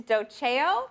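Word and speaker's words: doceo: know I get dosey doe sometimes I don't know where that comes from it's dough Jo and it means I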